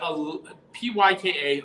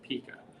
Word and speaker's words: Pyka: Well, my name is Pika, but Pyka. A lot of people throughout my life have mispronounced it Pika.